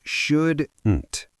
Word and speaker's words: shouldn't: Yes, shouldn't. It has a hard t at the end.